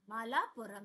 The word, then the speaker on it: Malapuram: इट्स एम ए इज मा and then is mall mall MALL माल। आ आप पुरम पुरम तो आप पढ़ पा रहे हो। पुरम मालापुरम।